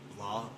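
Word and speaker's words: Blaough: His name is Sean Blah. It's like I know his last name is pronounced very weird. It's like B L A O U G H blah. John Blo or something like that.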